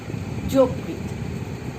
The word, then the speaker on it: যকৃৎ: আরেকটা আছে, আদ্য অয়ের পরের ধ্বনিতে রিকার থাকলে পরে, রিকার যদি থাকে তাহলে সেই অয়ের উচ্চারণ আমরা উ এর মতো হয়। যেমন যকৃৎ, এই কথাটি হয়ে যাবে যকৃৎ।